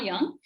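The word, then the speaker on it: Jung: you must be wondering the spelling is gu ng why it's pronounced as karl young and he went around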